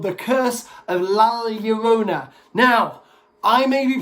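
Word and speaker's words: La Llorona: called the curse of lala yorona now i may be pronouncing this wrong um i am aware in mexican two elves makes like a yes sound so curse of la yarona i'm not very good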